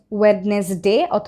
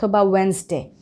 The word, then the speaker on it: Wednesday: handkerchief handsome not handsome Wednesday not wedness day Wednesday sandwich sandwich badge Edge